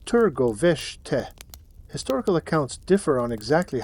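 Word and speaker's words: Târgoviște: The confrontation between Vlad and Vladislav came outside the Wallachian capital, Targovište, pronounced Turgoveshte.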